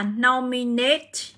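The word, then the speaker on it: nominate: các bạn sẽ là no minate chưa Rồi chúng ta sẽ có âm ảnh ở đây các bạn sẽ tính thêm cuối năm 3 thì nó sẽ Nhấn vào 1 nhé từ này cho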